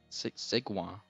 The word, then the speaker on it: segue: So it is a segue. Yeah, that's how you spell it. cool. Segwa.